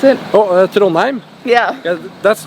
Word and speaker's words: Trondheim: How do you pronounce it? Oh, Trondheim.